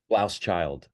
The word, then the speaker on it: Blauschild: do you pronounce his name Blauschild or Blauschild? Blauschild. Blaus. Blauschild. Yeah.